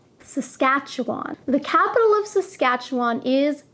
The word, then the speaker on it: Saskatchewan: Saskatchewan is probably the most difficult province name to pronounce. Saskatchewan. Saskatchewan.